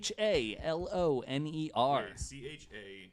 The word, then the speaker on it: Challinor: and I did William Challinor chal Oh NER and yeah it might not be pronounced yes it's exactly like the Challenger explosion I've heard I've heard